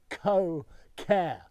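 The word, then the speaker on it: Koh Ker: over literally just over there is the mighty co care and you've got to look at that video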